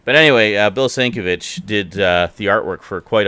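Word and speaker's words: Sienkiewicz: sure I assume it's it looks German so I pronounce the W like a V I I used to pronounce it Stankiewicz so I'm pretty sure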